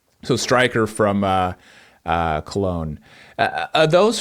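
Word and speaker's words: Köln: Both are right. Cologne is how you would say it in German. Cologne is how you would say it in English. So okay, great. Right. So striker from Cologne.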